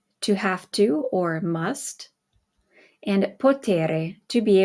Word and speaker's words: ho: O, hai, a, abbiamo, avete, hanno. Okay, notice that the H is silent, but we retain it so that you know that it's the conjugated form of avere.